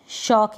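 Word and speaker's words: shock: फिर है ये शॉक, क्या है, शॉक, यानी SH को श पढ़ा जा रहा है, और ये जो O आया ना इसको अ पढ़ा जा रहा है।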